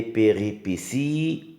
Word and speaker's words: péripéties: T l'élément perturbateur les péripéties regardez bien là aussi il y a un T qui se prononce s le délouement et la